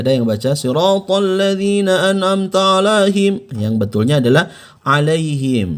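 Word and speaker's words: أنعمت: Ini hati-hati nih, perhatikan ada a dan a. Masih ingat? Bagi Anda yang sudah belajar di video saya sebelumnya, sudah saya jelaskan cara membedakan pengucapan huruf A dengan A. Anda lihat ya di video sebelumnya ya. Siratal ladzina an'amta alaihim. Bukan dibaca an'amta, melainkan an'amta alaihim.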